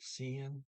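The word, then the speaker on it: siden: c in the s-i-d-e-n the d is silent there at cn um 1349.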